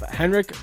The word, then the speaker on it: Henrik: I'm your host, Thomas Wording, and it's my pleasure to have Henrik, is it? Good pronunciation.